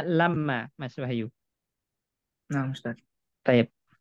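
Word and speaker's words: لَمَّا: Kalau menjelaskan waktu, saat, maka dia bacanya lamma, Mas Wahyu.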